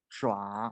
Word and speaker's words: 抓: this word we pronounce it 抓. 啊，就是去 Draw 抓 is a 它 grab, 是 is 从上往 catch.